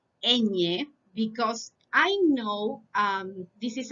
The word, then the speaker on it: ñ: So you pronounce this letter as this, ñ.